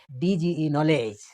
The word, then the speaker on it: knowledge: আর তারপরে আমি ড্যাশ দিয়েছি, অর্থাৎ শব্দ মধ্যে আছে ডি কিন্তু তার উচ্চারণ হচ্ছে না, যেমন KNOWLEDGE, নলেজ। হ্যাঁ, তো এখানে ডিটা অনুচ্চারিত হচ্ছে, উজ্জ্ব থাকছে।